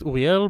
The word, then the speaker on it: Uriel: It's actually pronounced Uriel, but I gave up on that Uriel? many years ago when I moved to the States.